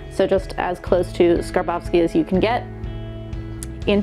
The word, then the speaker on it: Skarbowsky: added to it um I'm American so I have always said scar Bowski like we say the big Labowski um but uh Jean charos himself told me that it's actually skarbowsky a little bit with